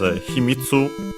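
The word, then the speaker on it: 秘密: Uh but yeah, this is Himitsu uh a Chinese compound and so luckily actually unacented as usual which means uh secret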